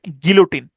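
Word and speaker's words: guillotine: এটাই হচ্ছে গিলুটিন। তো তাহলে বানানটা কি কিরকম দেখেন।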